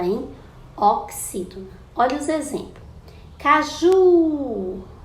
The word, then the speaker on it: caju: Caju, caju. Então, o ju é a sílaba tônica, é a sílaba mais forte.